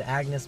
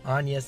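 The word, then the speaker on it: Agnès: Chorus Kids, and Agnes, and Agnes is how you pronounce her name. Thank you to whoever it was, but they corrected the name. I said Agnes before, but her character name is Agnes, and that's how it's pronounced, so you guys know now.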